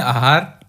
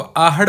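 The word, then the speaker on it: आहड़: आपको अलग-अलग मिलेगा एगार इसको ज्यादा तो लिखते हैं आहार लेकिन इसको आहट बोलते हैं राजस्थान में तो मोस्टली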